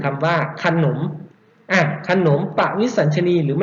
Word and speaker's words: ขนม: ไหม ครับ ดัง นั้น ขนม นะ ครับ ออก เสียง อัด แต่ ไม่ เขียน อะ ลง มา ก็ เป็น